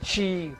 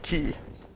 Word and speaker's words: Chi: Stimulate your inner peace with chi, black, heat, black, neat, over ice, and in smoky cocktails. For enlightenment recipes, visit blah, blah, blah. Okay, so there we go. The chi. Correct pronunciation. Chi, not ki.